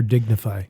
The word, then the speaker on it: DignifAI: Digify or dignify? Well, Dignify, but it's spelled DignifAI.